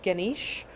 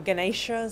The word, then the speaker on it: Ganesha: is quite traditional for the god Ganesh or Ganesha some people pronounce it and Ganesh's that's